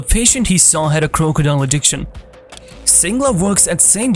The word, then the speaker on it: Krokodil: injecting an unusual drug crocodile da of morphine often known as crocodile pronounced like the crocodile is a very addictive